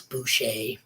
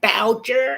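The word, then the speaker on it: Boucher: was french you know it's bouche but it's spelt b-o-u-c-h-e-r and people like voucher it's like you know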